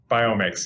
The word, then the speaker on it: FitBiomics: fit biomix biomix am i saying it right biomix yeah yeah ionics yeah um i was so